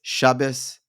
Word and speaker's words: Shabbos: It's Shabbos, which is Ashkenazi pronunciation, Shabbat, which is Sephardi, or Yemenite, which is Shabbath.